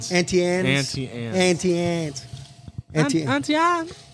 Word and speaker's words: Auntie Anne's: Okay, and then they have an 18 and Vine, travel essentials, things you need, and Auntie Annie's. Is that how you say it? Auntie Anne's.